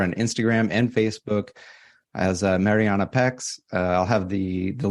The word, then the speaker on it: Mariana: it the correct way so I'm gonna put the the of Spanish so it will be Mariana there we go yeah and